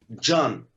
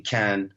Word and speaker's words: Can: Johan everol everol John John yes cuz like in in Turkish C is like a j so it's pronounced as John but like I'm used to everybody calling me K when I'm abroad so